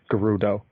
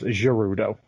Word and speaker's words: Gerudo: He was the only male prophesied to rule the Gerudo. Right. which for like almost 20 years now I've been mispronouncing it as Gerudo.